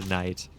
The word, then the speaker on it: knight: So they changed it to night.